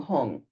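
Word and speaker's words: hum: At her heart, a blue hung. H u n g or h u m.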